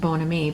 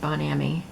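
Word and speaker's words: bon ami: and benami orbona me it's French which means my good friend and it's pronounced Bona me but I remember on prices right they always said bond a me so maybe that's how it's pronounced in America I don't know and then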